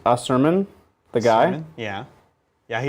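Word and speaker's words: Asurmen: correct people's pronunciation of asiriani it's pronounced ah su he's saying there's no they're saying there's no i sound at the end oh it's a suryan a series like a sermon the guy yeah yeah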